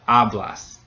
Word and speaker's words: hablas: It doesn't end in a vowel, but it does end in an S. So in that case, the second to last syllable gets stressed. We have hablas. So again, the stem gets stressed here.